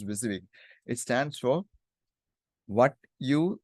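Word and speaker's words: WYSIWYG: it's like this viig we pronounce this one as viig it stands for what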